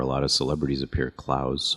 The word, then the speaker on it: Clowes: lot of celebrities appear klaus hall they pronounce it clues she probably appeared there